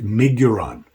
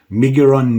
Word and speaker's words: Miguron: So like I said, this guy is made by, I believe it's pronounced MIGURON, MIGURON knives.